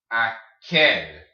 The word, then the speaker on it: aquel: Aquel. All right, see the Q-U-E? Aquel. Queso. Aquel. All right. So when you have the Q-U-E, it makes a K noise, like queso, aquel.